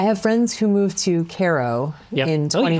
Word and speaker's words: Cairo: I have friends who moved to Cairo in 2020. Oh, you pronounced it correctly.